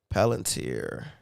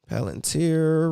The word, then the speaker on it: Palantir: got going on first first let's check out palantir that's how you say it where is it